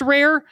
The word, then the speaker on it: RAR: It It's pronounced rare."